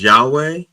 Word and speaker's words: Yahweh: No, I think the correct pronunciation is Yahweh. Yahweh.